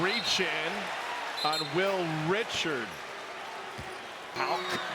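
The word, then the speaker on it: Haugh: Houck, like a K at the end, it's spelled H-A-U-G.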